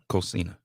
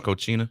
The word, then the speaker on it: Cocina: Soulful Cocina. I'm so glad to hear you say it because I done mispronounced it so many times. You saying Cochina?